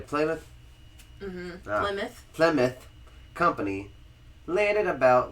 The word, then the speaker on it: Plymouth: Virginia in August 16007 the playmouth I said it again didn't I rather you didn't say it right again no I did not say it right again in August 1607 the Plymouth Plymouth Plymouth Company landed